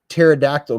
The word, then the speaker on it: pterodactyl: can't you hear a pterodactyl go to the bathroom the P silent huh the p is silent the p is silent was that a joke